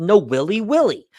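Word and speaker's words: Nawiliwili: port like this but most of you would know it as Kawai but it's really called No willy willy so we went to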